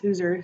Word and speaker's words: Hauser: My name is spelled Hauser, pronounced Hooser, so if Miss works better, that's totally fine.